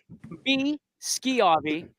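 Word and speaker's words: Schiavi: uh D Jones uh it is indeed B ski Avi I'm so sorry we've been pronouncing it wrong this entire time I went on channel 21 and pronounced it wrong I Did You Wrong man it's all good I tell people think of a school you know you don't say show you say school it's because SCH so but uh yeah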